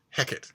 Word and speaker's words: Hecate: the goddess of witchcraft Hecate is how I pronounce it from because I've been steeped up to my eyeballs in Shakespeare but it turns out